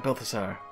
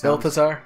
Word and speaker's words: Balthasar: To those who opened the door, I'm Balthasar. I'm mispronouncing his name horribly. No, that's Balthasar. Don't worry.